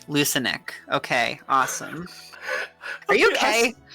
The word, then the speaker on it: Lucanic: I'm guessing it's Lucanic. Alright, I'm good. Ow! Son of... Okay, I hit my head on my table. It's all good. Ow, okay. Soft C. It's a soft C. Lucanic.